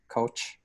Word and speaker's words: Koch: your last name correctly so I learned now it's coach right everybody outside the US pronounces it like you so I think it's the German accent of German nature so comment with a